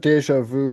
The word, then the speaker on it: déjà vu: Let me just see how if we're pronouncing these correct. I know I got deja vu correctly.